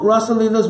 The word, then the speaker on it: rasa: so there are two Rosas which are prominent or R huh Ras with a long a in Sanskrit can you say the difference and Rosa with a short a Sanskrit means the ingredients